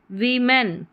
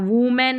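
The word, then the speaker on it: women: वीमेन क्या है? वीमेन इसको ओ है वी ई साउंड आ रहा है। वुमेन नहीं वीमेन आ रहा है।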